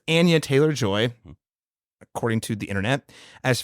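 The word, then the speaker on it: Anya Taylor-Joy: Another, Laron, correction, I'm working on the names, corrections, mispronounced. It's Anya Taylor Joy, according to the internet, as Furiosa, Chris Hemsworth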